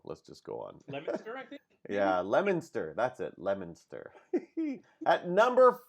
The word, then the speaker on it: Leominster: say that lemons I don't know how to pronounce it so let's just go on yeah Leominster that's it Leominster at number forty escape from Godot mr.